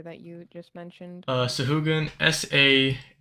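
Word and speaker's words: sahuagin: spell the creature that you just mentioned uh shugan sa a h u a g i n that's correct oh I got a three on initiative sure took me a second because I pronounced it s wagen oh I think it is so again I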